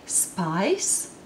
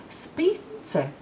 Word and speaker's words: spice: Would you say spice? Well, that's what I'm talking about. But it's not how Latvians would pronounce it. Latvians would read it spice.